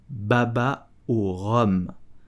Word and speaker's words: baba au rhum: I don't know, but the correct pronunciation is baba au rhum. Baba au rhum. So, to pronounce rhum correctly, you will pronounce the H and the U like a O.